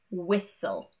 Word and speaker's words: whistle: Generally, words ending in S-T-L-E will have a silent T. For example, castle, thistle, and whistle.